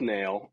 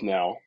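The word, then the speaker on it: knell: that uh a death nail is not a thing so I uh learning has occurred today uh death nail is actually death now and it's spelled k-n-e-l-l and it is a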